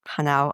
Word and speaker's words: Hanau: Where exactly is Hanau? And apologies for my terrible pronunciation, Thomas. No problem with the pronunciation. The city of Hanau is located east of